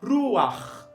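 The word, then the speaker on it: רוּחַ: E na pronúncia, pastor, ele é pronunciado junto com a consoante, que dá aquela puxada na cultura. No caso de Ruach, Noach, tá?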